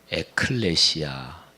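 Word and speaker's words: ἐκκλησία: 그렇게 표현할 수 있죠 교회 란 말의 헬라어 원어 가 에클레시아 이렇게 발음을 합니다 근데 이 단어는 두가지가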